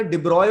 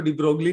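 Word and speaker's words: de Broglie: यानी यहाँ पे अपना डिब्रॉय वाला, डिब्रॉय बोलते हैं इसको, डिब्रोगली नहीं होता, ज्यादातर लोग इसको डिब्रोगली ब्रोगली करते हैं, लेकिन ये डिब्रॉय होता है वैसे इसका प्रोनाउंसिएशन।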